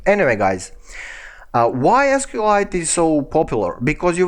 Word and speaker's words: SQLite: about pronunciation well actually i'm saying sqlite and mysql because it's easier for me it's somehow logical but some people are saying uh sequel light and my sequel so if you